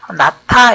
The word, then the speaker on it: 낳다: 히읗 받침이 있을 때는 낫타 이렇게 발음하면 됩니다.